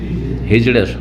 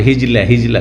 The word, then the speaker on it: হিজড়া: হিজড়া, শুদ্ধ হিজড়া। আপনাদের কিছু কিছু লোকেরা আঞ্চলিক ভাষায় হিজলা করে, হিজলা কোনো ভাষা নাই, হিজড়া র দি।